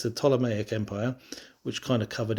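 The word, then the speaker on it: Ptolemaic: pronounce as well, cuz it has a P in front of it, which is silent, so you don't say the P, but it's the Tomic Empire, which kind of covered Egypt and Judea, Palestine.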